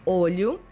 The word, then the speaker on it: olho: The same happens with the pronunciations of olho, eye, and óleo, oil. The pronunciation for these two words is almost the same, but the difference is made on the first vowel, óleo and olho.